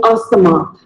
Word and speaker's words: asthma: We all have a friend with asthma. Most of us call it as asthma, but wrong. It is not asthma. It is called as asthma. The T and H is silent.